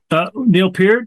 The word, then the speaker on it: Neil Peart: Neil Peart? Yeah, I'm glad you pronounced it correctly.